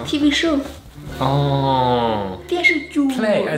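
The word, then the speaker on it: 电视剧: ju (correcting pronunciation) Ju! It's like a story right? Tv show Oh! Dian shi ju (tv show) Play-- oh I said-- I was so close!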